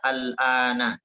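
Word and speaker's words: الآن: Di situ al-an jangan ragu untuk membacanya al-ana. Jadi huruf nunnya itu berharokat fathah.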